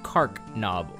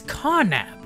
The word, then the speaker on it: Carnab: Carnob, not Carncnob. What was I reading? It's Carnab!